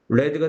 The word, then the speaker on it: read: has read 이 과거분사는 발음이 어떻게 되죠? read가 되죠.